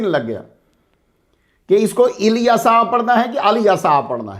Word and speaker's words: الیسع: کی آیت نمبر 48۔ اس کے مختلف تلفظ ملیں گے آپ کو، الیسع، الیسع، الیشع۔ الکسائی کی قرات میں